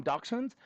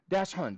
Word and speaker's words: dachshund: I think you even said it correctly cuz that's like the original German pronunciation. We usually call them dachshund. But what's the correct what's the correct pronunciation? Dash hund.